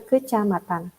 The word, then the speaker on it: kecamatan: Kalau kacamatan dibacanya kecamatan.